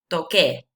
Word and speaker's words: toqué: e to get because if you keep the c it would pronounce doce and it's not it's tocar we need to have this same sound there so that's why we